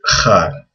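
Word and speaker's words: خ: But people usually write a KH for kha. It's similar to, like in Hebrew, people say Hanukkah. It's the exact same sound in Arabic.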